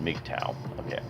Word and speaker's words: MGTOW: first pictures members make tao pronounced McDow communicate almost entirely online